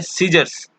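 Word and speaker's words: Caesar: है वह साइलेंट है इसको हम लोग चाय असर नहीं पड़ता है सीजर पड़ते हैं यह को प्रसन्न नहीं किया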